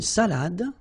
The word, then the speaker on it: salade: Final you don't insist on it. It only gives you the pronunciation of the previous letter. So, d. Salade. Salade.